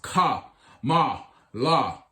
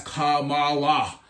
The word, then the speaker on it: Kamala: the majority parties ticket pence referred to her as kamala putting his emphasis on the second syllable at events last week